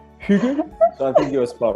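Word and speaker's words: hygge: I think we pronounce it Hugh.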